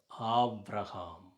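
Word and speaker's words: אברהם: அவருடைய தொடக்கத்தில் ஆவ் ரஹாம், ஆப்ரஹாம். அவர் அப்படி தான் உச்சரிக்கிறார். சரியான உச்சரிப்புனா அதுதான். இது அப்பா, தந்தை அப்படின்னு பொருள்.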